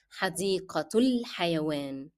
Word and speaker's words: حديقة الحيوان: Reminding you that L is preceded by a short vowel dhamma, and that's why we drop in pronunciation the sound of alif, and we move directly from the short vowel dhamma to lam.